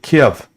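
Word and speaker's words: Kyiv: they will also take KB or Kei you know depending on how you want to pronounce it uh they're not going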